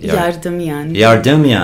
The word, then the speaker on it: Yardemian: How do you pronounce Yardemian. your name properly? Yardemian.